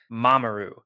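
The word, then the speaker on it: mamoru: the Japanese word for protect and protect is mamaru mamaru is spelled m a m o are you and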